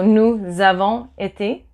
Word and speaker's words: nous avons été: And I'm telling you this like that if somebody uses this liaison, you don't go, oh, there's no Z in there. Why is there a Z? No, there's no Z. It's just that when you pronounce it, there suddenly appears to be a Z.